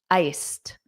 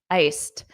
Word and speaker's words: iced: Iced. Iced. Notice that pronunciation. Iced with that T.